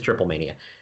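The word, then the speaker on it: Triplemanía: mania has been on I think it's pronounced triple money on I don't know whatever I I don't it's triple mania it's on twitch I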